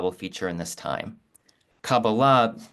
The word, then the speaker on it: Kabbalah: feature in this time cabala being the Hebrew pronunciation of the word the anglicized version of cabala which means receiving that's used by American English speakers is cabala the same pattern of emphasis as for example Madonna both are correct there